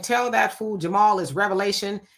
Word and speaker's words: Revelation: When I was um um looking at that scripture, I laughed about that because most people do pronounce it revelations. It's revelations, but it is revelation.